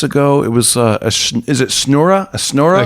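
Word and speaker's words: schnorrer: It was, is it snura? A snura? A schnura. A schnura.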